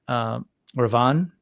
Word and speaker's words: Ravan: I notice when they're pronouncing things like that last A is sort of not heard, silent.